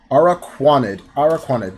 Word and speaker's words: Araquanid: Let's start off with Lantern, Unidentified Fossil, Araquanid, I think I'm pronouncing this one wrong, Araquanid, there we go, Esper, Togedemaru, Smeargle, Litten, Petalil,